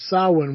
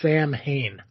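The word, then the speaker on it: Samhain: Why is it pronounced sawin when it's Sam Hayne?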